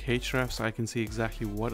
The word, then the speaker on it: Ahrefs: uh using hrefs um i usually pronounce the hrefs but it could be ahrefs so within the hrefs